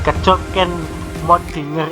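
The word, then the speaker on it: Kjøkkenmødding: ciri masa ini adalah Kecok-Kenmodinger dan Abisosroce ya. Yang pertama bacanya gimana ini? Kecok-Kenmodinger ini dari bahasa Denmark ya.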